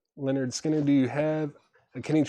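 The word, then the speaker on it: Lynyrd Skynyrd: Uh, Ministry, Every Day is Halloween, The Lost Mixes, Pearl Jam, Live, Chicago 1992, Tom Petty, Full Moon Fever, Leonard Skinnard, pronounced Leonard Skinner.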